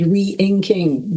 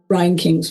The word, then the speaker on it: Reinking: And then someone whose name is spelled re-inking, but I think it's Reinking, bought the tattoo for about $250,000.